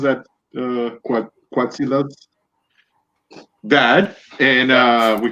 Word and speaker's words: Quetzalcoatlus: How do you pronounce that? Quetzalcoatlus.